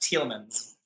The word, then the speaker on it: Tielemans: Our last name, it's pronounced Tielemans. Like Tielemans, like the color. Okay, got it. Yeah, like the color, and man's, if you wish. Yeah, Tielemans. The S is on the end.